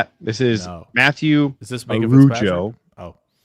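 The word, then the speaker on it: Mathieu: So, his his name is Matthew, but it's like the fancy Matthew.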